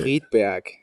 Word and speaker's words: Friedberg: Friedberg. Wait, can you say it again? Friedberg. Friedberg? Friedberg. Oh, nice. It's Uh, back in the throat. do you think anyone in Friedberg Yeah, has ever been on a podcast before?